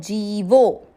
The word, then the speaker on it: जीवो: जी की मात्रा यहाँ पर बड़ी है, लंबा खींचना है, जीवो।